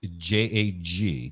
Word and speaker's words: Jag: the people from Chicago that is not the way it's pronounced it's j-a-g not j-a-c-k-j-a-g it's you know Jag but that's the way we say it up there put the Commander's done